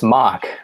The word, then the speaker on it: MOK: the tie-in with uh is it pronounced mock or is it m or how how are handling that it's it's mock uh it's uh it's